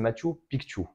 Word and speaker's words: Machu Picchu: que nous avons visité c'est le Machu pikchu il faut bien le prononcer de cette manière-l parce que c'est vraiment le terme quichoix alors le matchu pikchu